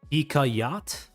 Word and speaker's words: Hikayat: It's pronounced Ikayat.